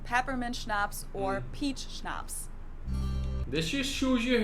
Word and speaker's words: Schnapps: Schnapps. This one I also mentioned in my video on alcohol culture. In German, we spell it like this and say Schnapps, and it means hard liquor.